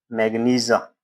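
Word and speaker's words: magnesia: Milk of मैग्नीशिया, milk of मैग्नीशिया, या इसको milk of, अगर आप प्रोनाउंसिएशन इसको चेक करेंगे तो मिल्क ऑफ मैग्नीजा इसको पढ़ते हैं।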